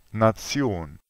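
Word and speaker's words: Nation: in tedesco è finga se una parola termina con questa si pronuncia Zion ad esempio nazion la cosa successiva è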